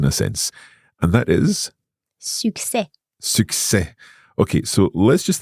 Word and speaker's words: succès: Et on ne prononce pas le S à la fin.